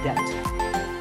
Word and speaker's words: debt: might find yourself in debt the B is silent so if a debt is related to your